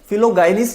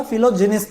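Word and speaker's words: philogynist: Word बना फिलोजिनिस्ट, इसका pronunciation थोड़ा ध्यान से करेंगे, फिलोगाइनिस्ट नहीं होता, फिलोजिनिस्ट होता है।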